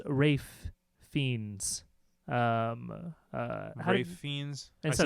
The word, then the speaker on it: Ralph: I always thought his name was pronounced Rafe Fiennes.